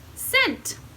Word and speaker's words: scent: The first one starts with C-E, so we know that says S. Int. Scent.